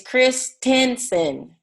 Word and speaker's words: Christensen: Hold that book up again because it's spelled different than Jessica. Jessica, hold your book. Oh, there we go. Yeah, it's Christensen, Tensen.